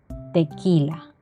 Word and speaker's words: tequila: pelota q queso tequila sólo se utiliza cuando existe el dígrafo con y más acompañado de una e iu y el sonido será sin embargo no vamos a pronunciar la uv es decir sonará tal cual queso tequila r ratón rojo en